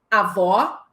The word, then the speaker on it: avó: E aí, professora, é importante lembrar que o acento agudo marca timbre aberto e o acento circunflexo marca timbre fechado, como na opção avó, aberto, avô, fechado.